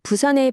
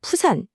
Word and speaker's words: 부산: 원래 부산의 비읍 발음은요, 한자 가마 부자에서 알 수 있듯이 가마솥이 부글부글 끓어오르는 듯한 그런 힘차게 솟아오르는 기운을 상징했어요. 그런데 이게 일본식 표기인 푸산, 즉 퓨산이 되면서 그냥 바람 빠지듯 가볍게 터지는 피읍 소리로 바뀌어버린 거죠.